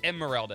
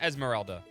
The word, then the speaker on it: Emeralda: It's Emeralda. It's not Esmeralda. Emeralda, like an emerald.